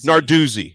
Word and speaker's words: Narduzzi: Well, I guess Pat, how do you pronounce his last name? I always screw it up. Narduzzi.